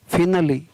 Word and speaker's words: finale: कुछ गिने चुने शब्दों के अंत में इसका उच्चारण है वो छोटी ई होता है। जैसे यहाँ पर देखिए उदाहरण दिए हुए, FINALE, फिनली, क्या इसका उच्चारण है, फिनली।